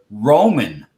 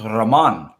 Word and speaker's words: Ramon: I mean, the maintenance shop I worked in for all these years, everybody calls the maintenance manager Roman, but that's because they do not know how to pronounce Ramon.